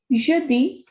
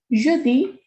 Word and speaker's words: jeudi: Jeudi is Thursday. Jeudi. When we have E and N together, it is on.